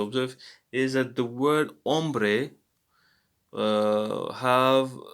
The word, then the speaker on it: hombre: is that the word ombre have the word ombre has a silent letter h at the beginning so we don't say hombre but we say hombre what happened here i